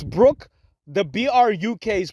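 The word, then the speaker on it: Bruk: he kept on calling her Brook BR Brooke Burke Jackson her name is Brooke Brook it's Brooke the BR UK is pronounced as Brooke she said it herself he kept on calling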